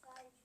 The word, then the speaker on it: fudge: In dodge, fudge, and fudge, the D is silent.